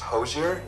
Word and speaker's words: Hozier: Still pronounced Hosier? Yeah, it's... They do, and it is originally a name from that originated in France. Right. So, that Hosier. Yeah. Hosier.